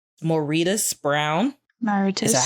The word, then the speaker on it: Mauritius: think I'm going to pronounce this name correctly, Mauritius Brown. Mauritius. Is that how you pronounce it? It's based off the country, right? Named after the country? Yes. Mauritius, yeah.